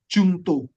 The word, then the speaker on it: juncto: Kalau kita bicara mengenai undang-undang ataupun peraturan presiden atau peraturan pada umumnya ya, kita menggunakan istilah jungto. Ya. Kita menggunakan istilah jungto. JUNCTO. Ya. Jadi modelnya itu nanti jadi cara bacanya Peraturan Presiden Nomor Republik Indonesia Nomor 12 Tahun 2001 tentang perubahan atas peraturan ini.